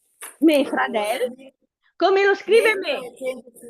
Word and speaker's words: fradel: Brava me fradel. Come lo scrive me? Con la sua e che è un accento chiuso. Brava. Benissimo. Fradel sempre con l'accento sulla e però avverto questa.